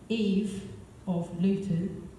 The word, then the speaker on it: evolution: And that's when I wrote this piece, which is spelt evolution, but pronounced Eve of Luton, because that's where I'm from.